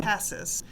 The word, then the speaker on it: Cassis: city of Cassis um spelled the same way but pronounced differently which is what we do we americanize everything and I'll have Glenn